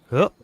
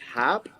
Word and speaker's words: Hupp: It's pronounced Hap? No, Hup. Hup. Hup. Up with an H.